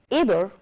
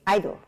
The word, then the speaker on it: either: There are two ways of pronouncing them. For either, for example, you could say either.